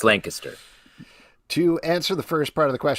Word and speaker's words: Lancaster: It's pronounced Lancaster.